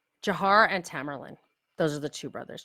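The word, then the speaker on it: Tamerlan: Jiar and Tamarlain. Those are the two brothers. Just so you want to know to how to pronounce them.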